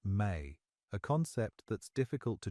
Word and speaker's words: me: The specific knowledge the appcallu impart includes what the Sumerianss call me pronounced may a concept that's difficult